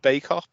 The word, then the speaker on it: Bacup: Bacup. Bacup, that's right, yeah, you're right. Yeah. So it looked like Bacup, but Yeah. I knew it wasn't pronounced like that.